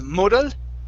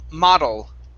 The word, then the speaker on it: model: um let's see okay the word model instead of moodle it's ma model okay one more time